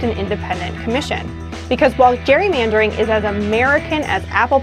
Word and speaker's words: gerrymandering: And I think it's so fun that we're all saying it wrong. And actually it should be gerrymandering, Baker.